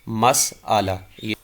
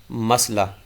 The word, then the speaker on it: مسئلہ: درست تلفظ اس کا مسئلہ، اس کا معنی ہوتا ہے حل طلب معاملہ، سوال۔ تو صحیح لفظ جو ہے یہ میم کی زبر کے ساتھ مسئلہ درست تلفظ ہے، اور غلط تلفظ مسئلہ۔ ہمارے ہاں یہی کہتے